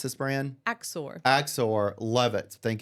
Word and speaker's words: Axor: And again, how do you pronounce this brand? Axor.